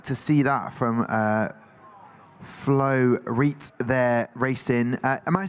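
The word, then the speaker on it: Floreat: We do not like to see that from Flo Reet there racing. Am I pronouncing the name correctly? Floriat.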